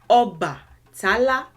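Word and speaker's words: Ọbàtálá: This word is pronounced Oba Tala, Oba Tala, Oba Tala, Oba Tala.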